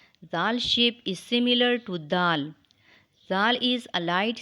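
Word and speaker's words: دال: sound later it is pronounced when the tip of the tongue goes towards the root of the top front two teeth so read after me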